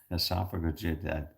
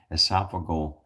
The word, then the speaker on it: esophageal: I can't even pronounce that word. I'm not esophagus, esophageal, well, I know esophagus, oh my goodness gracious.